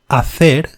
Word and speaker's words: hacer: This letter is never pronounced in Spanish. It is never aspirated. Let's have a look at these examples. Hacer, to do, to make.